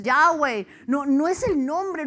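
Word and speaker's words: Yahweh: nombre Ah es que lo está pronunciando mal no es Jehová es yahwe no no es el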